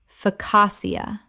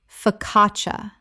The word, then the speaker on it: focaccia: focassia Correct pronunciation. focaccia. The CC in Italian makes a CH sound.